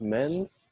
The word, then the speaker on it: Menz: Miss Menz, that's how you say it, PJ Menz, you wanted to ask us a question.